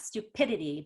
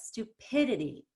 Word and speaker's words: stupidity: you highlight that pid i want you to lengthen the eye and spend more time and energy on it so not stupidity but stupidity really lengthen the pit so you're spending more time on the letter i on that vowel it's the vowel that